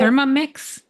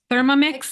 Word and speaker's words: Thermomix: Thermomix? Yeah. Did I So spell it right? It Thermomix?